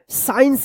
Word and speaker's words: science: साइलेंट रहेगा, seizures. SCIENCE, क्या पढ़ेंगे? साइंस पढ़ेंगे, साइंस।